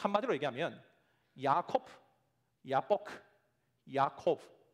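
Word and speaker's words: יעקב: 특별히 23절과 24절을 보면 세 단어가 히브리 단어의 발음상 유사성을 가지고 있는 단어라는 것을 우리가 확인합니다. 특별히 먼저 야곱이라는 히브리어 단어가요, 야코브라는 단어입니다.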